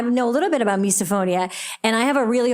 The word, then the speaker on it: misophonia: How do you pronounce that? Uh, misophonia.